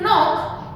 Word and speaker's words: knock: Here we don't produce a knock, it is knock. Here the K is silent.